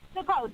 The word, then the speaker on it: Sukkot: How do you pronounce it? Sukkot.